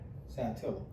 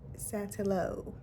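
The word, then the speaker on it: Saltillo: pronounce Pon talk Ponto Ponto how do you pronounce SAA Satilla Satilla Satilla not satillo when I worked as a high school counselor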